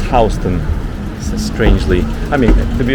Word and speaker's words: Houston: patch is called naho which is north of houston and if you are a visitor or you've been living here for a short time you call houston houston because it's exactly how it's spelled just like the city of houston but